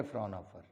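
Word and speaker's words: Fraunhofer: एच नहीं है शायद इनकी स्पेलिंग में, है ना, इनकी स्पेलिंग में एच नहीं है, वो आप देख लेना। दूसरा रहेगा जिसे बोलेंगे फ्रॉनहोफर, दोनों में थोड़ा थोड़ा अंतर है, अंतर तो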